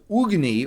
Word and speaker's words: Agni: By the way, the actual way it's pronounced is Ugni or Agni. But like I always pronounce it Agni because that's like a very Chicago Agni. That's how we talk in Chicago, right?